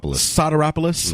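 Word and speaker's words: Sotiropoulos: How do you pronounce his name? Soteropoulos? Soteropoulos.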